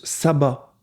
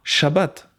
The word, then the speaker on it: shabbat: me chagrine c'est que il le prononce sabbat et pas shabbat comme cela se dit en hébreu et bien en réalité